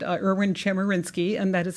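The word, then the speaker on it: Chemerinsky: really remarkable people but as Dean Meyer said irn chinsky and that is how you say it right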